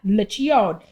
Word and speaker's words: Liccione: And Mina, Liccione. Learn the name, learn the pronunciation.